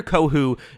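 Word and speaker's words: Kohou: on and saying uh how do you say his last name cater uh kohu is that it uh because yes uh cater kohu is uh someone who you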